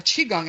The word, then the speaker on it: Qigong: I was first amazed by, you call it Qigong, I call it Qigong, but it doesn't really matter, it's how it's spelled.